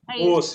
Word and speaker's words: Mauss: Não sei se se pronuncia assim. É assim mesmo, João? Mauss. É isso? Marcel Mauss, isso. Mauss, isso, né? Que nem Strauss, né?